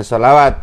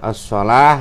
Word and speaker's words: الصلاة: surat An-Nisa ayat ke-77 ini ada tulisan as-shalawat. Itu membacanya bukan as-shalawat tapi dibaca as-shalah ya.